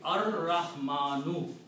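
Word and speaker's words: الرحمن: But because Ra is a Shamsi letter, it kills the sound of Lam. So the pronunciation will be Ar-Rahmanu.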